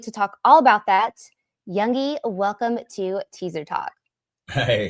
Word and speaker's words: Youngy: I mean, the G is usually, it's like Youngy. Youngy. Sort of like, yeah, I get a lot of American people love to pronounce the G, but it's not. So it's kind of like a sort of just slides off.